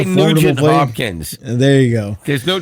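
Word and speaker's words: Nugent-Hopkins: Ted Nugent Hodgkins, or how you pronounce his name.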